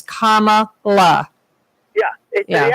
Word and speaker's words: Kamala: Robin, her name is Kamala. It's not Kamala. The accent is on the first day. Yeah. Kamala. Kamala, It's like me, yes. It's like me calling you Robin. by putting the accent on the second syllable.